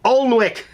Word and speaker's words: Alnwick: you know how the British Isle folks like names with lots of letters that they don't pronounce. Yeah, like Alnwick Castle. Do you know how to spell Alnwick? A-L-N-W-I-C-K. Alnwick, for crying out loud.